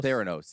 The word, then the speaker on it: Theranos: was the ceo of a company called uh thoranos is that how you pronounce it theranose yeah with theranose and quotation marks essentially yeah